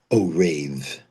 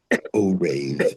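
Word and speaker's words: ערב: So today's topic is one word that stems from the Bible and that's the word o rave. O rave. It's spelled iron reet o rave.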